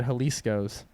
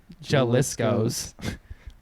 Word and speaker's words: Jalisco's: teacher and be like how do you pronounce this word J and she said Jalisco's and these kids were like I'm still gonna say jealous goes [